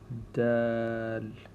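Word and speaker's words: د: It's like a slide and then back and then a slight jump like that. Dal. So pronounce this Dal. And I'm going to write this with a small d because there's another letter later on that is a stronger sound of the D sound. This is a lighter sound.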